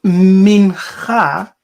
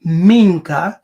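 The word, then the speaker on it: מנחה: Now, the Hebrew is pronounced Mincha, or Minka, because the K and G can be interchangeable, but it is the Kikongo Menga.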